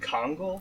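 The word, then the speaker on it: Congal: also this guy is named kongl like the hat uh c-o-n-g-a-l is that a hat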